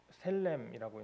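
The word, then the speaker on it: שֶׁלֶם: 이 화목제는 셀렘이라고 읽는다고 하는데요.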